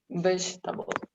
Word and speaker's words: vegetable: read it thank you it's like vegetable yes great excellent so we don't pronounce the second e just forget about it